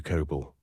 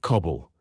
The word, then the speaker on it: coble: The rescue coble, as it is pronounced in Northumberland, or cobble, which is the Scottish version of the same, was at first open-decked with little protection from the elements.